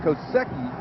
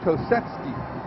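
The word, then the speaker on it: Kosecki: doesn't look like it's it's pronounced differently than it's spelled it looks like koseki but it is ketki and you've done very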